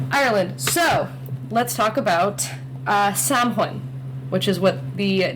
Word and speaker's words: Samhain: The original name was Samhain, which is Samhain, and you don't pronounce it like it's written in like English Sam lettering. Hain? Yeah, it looks like Sam Hain, but it's Samhain.